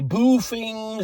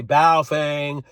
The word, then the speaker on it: Baofeng: They're called BAOFENG, and everybody pronounces them different. Some say boofing, some say baofeng. I say baofeng.